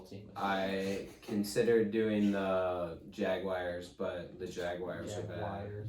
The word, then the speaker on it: Jaguars: Oh, thank you, Siri. Jaguars. It says Jag Wars. Jaguar. It says Wars.